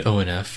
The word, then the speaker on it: ONF: special groups in existence i still don't really know how to pronounce their name by the way i call them onf but everybody always yells at me they say it's on and off but it's onf like that's how it's spelled so i'm not sure